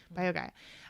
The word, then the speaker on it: BioGaia: use the biogaia i think that's how you pronounce it probiotic b i o g a i a bio guy and so that one is really helping him